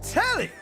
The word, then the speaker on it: Telly: I'm Telly. Rhymes with jelly.